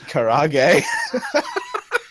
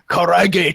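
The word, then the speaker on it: karaage: No, it's Japanese. You have to pronounce it in Japanese. You can't just like. What? Karage chicken oh.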